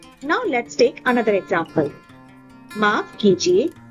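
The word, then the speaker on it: माफ़ कीजिए: Let's pronounce it together. माफ कीजिए. माफ कीजिए.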